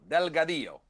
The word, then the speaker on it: Delgadillo: First of all, correct me on the pronunciation of the name. Yes, EJ and Bruce, great to be with you. It is Delgadillo.